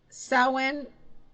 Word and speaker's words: Samhain: for uh Halloween she's pretty cool and um sewing sewing Traditions is spelled s-a-m-h-a-i-n but it's pronounced sewin and um